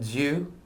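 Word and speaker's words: Duw: Anna da creada roedd y gair gira diw, a diw oedd y gair. Notice diw, right? So the rest of that, other than and diw, I don't think we have any more Latin there, right? But diw, deum, deus, diw, dios, diw, right?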